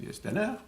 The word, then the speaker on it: Steiner: ironisaient un peu sur George Steiner ou Steiner comme le prononcit son nom lui il aimait le proncer la française Stiner euh et Steiner dans